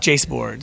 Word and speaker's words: Jaseboards: Jace Boards. So, J A S E Boards, all one word, spelled like bass boards, but with a J instead of a B.